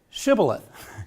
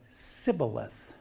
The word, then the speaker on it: shibboleth: how do you say how do you say shibboleth which is hebrew for bank of a river and they said sybileth because they could not frame to pronounce it